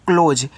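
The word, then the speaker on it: close: आपका हो जाएगा वह सी एल ओ एस ई इसको पढ़ते हैं क्लोज यहां देखो सी और एल आपस में सटे हैं तो सी से आधा का होगा एल से ल होगा ओ से ओ की मात्रा एस के बाद इ आता है तो एस को जा के रूप में आपको यूज़ करना है तो ये आपका हो गया क्लोज और क्लोज का मतलब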